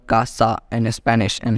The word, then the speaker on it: casa: Casa in Spanish and here you can see that we got C with another vowel a and this a makes C to pronounced as K therefore we can pronounce it House in Spanish as casa therefore a will join